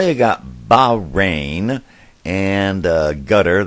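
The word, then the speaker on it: Qatar: got bahrain and uh gutter that's where you're really supposed to pronounce it and the city of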